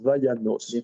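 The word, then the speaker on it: וַיָּנָס: Ah oui, ça ça alors je suis je sais je sais par expérience que ça se prononce vaanos.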